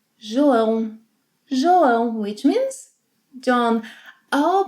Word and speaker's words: João: João. João. The letter J will always have a J sound.